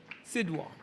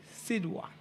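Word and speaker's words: Sidhwa: If we look at the spelling of his name, it's K R I S H Krish S I D H W A Sida.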